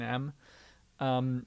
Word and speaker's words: mu: a lot like an m um but this is a greek letter um it's pronounced mu and that's your coefficient